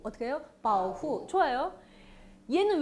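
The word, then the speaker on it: 保护: 중국어로 발음 어떻게 해요? 바오후. 어떻게 해요? 바오후. 어떻게 해요? 바오후.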